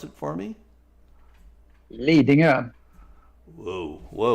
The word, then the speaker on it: Lidingö: You pronounce it for me. Lidingö.